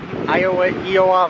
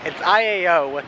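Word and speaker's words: ʻĪao: That's how you pronounce it. So now we just reached Iao National Park Valley, Iowa Valley. It's Iao, but the I has an apostrophe and accent thing over it, I think.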